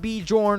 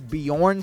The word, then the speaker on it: Bjorn: It's not Bjorn or Jorn. I figured that out. It's Bjorn somehow, but whatever.